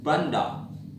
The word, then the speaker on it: bandar: In Malay, bandar. In Indonesia, bandar usually is port or water canal. Bandar, the final R, is silent in Malay.